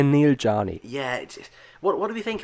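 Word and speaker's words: Neel Jani: this in the off-season, but Neil Yanni? Or Yanni. I think. Not too bad, yeah. Yeah. The Swiss say Neil Jani.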